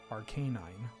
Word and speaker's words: Arcanine: Arcanine it's like well it's Arcane and canine Arcanine I think Pokemon I mean obviously the anime and um the anime and the uh and Pokemon Stadium may have ruined everybody oh it's Arcanine and then Arcanine just